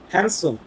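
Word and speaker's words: handsome: gentle খুবই ভদ্র, strong মানে শক্তিশালী, হ্যান্ডসাম মানে দেখতে খুব ভালো, হ্যান্ড নয় হ্যান্ডসাম, ডি ওয়ার্ডটা এখানে, ডি লেটারটা সাইলেন্ট, হ্যান্ডসাম মানে দেখতে খুব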